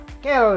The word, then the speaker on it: quels: Nah, si quel ini ada dalam bentuk maskulin singulier, ada bentuk maskulin plurialnya, tambahkan S tapi S di ujung tidak dibunyikan, makanya dia quel juga.